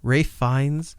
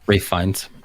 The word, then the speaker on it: Ralph Fiennes: What if I'm out front like Ralph Fiennes or Fiennes, however you pronounce his name, Rafe Fiennes. Rafe Fiennes.